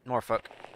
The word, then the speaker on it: Norfolk: I know it's Norfolk, but it's Norfolk. The L is silent. Also, there's a few places around in each location.